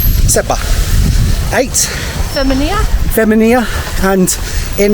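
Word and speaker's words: sebgħa: remember what it is sabar sabar in Arabic and in uh malt just kind of shorten that a little bit to seba seba eight femia feminia and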